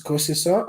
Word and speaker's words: Kosiso: are yeah yeah um so my name is cosiso um so that's actually the shutterstone form to pronounce my name there's a longer part of